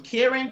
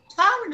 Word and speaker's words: Kyron: People have called me everything in the world from Kieran to Kyrie, Kyrene. And like I'm thinking, you get it wrong the first time. I'm like, Kyron is not something hard to pronounce.